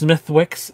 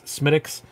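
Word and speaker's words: Smithwick's: It's not pronounced Smithwix. It's Smittix.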